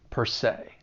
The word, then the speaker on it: per se: Even though it's spelled s e, you're going to pronounce it with that long a sound. Say, per se.